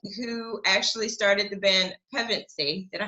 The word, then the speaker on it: Pevensie: is the guitarist who actually started the band pregnancy did i say it right hey you got